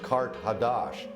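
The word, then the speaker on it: Qart-ḥadašt: Carthage, in the ancient language, is pronounced Kart Hadash, and that means new city.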